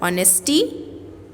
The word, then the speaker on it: honesty: It is not known as hour, it is hour, O-U-R, H is silent. 3 words I told you, if you remember. Hour, honesty, then one more, honorable.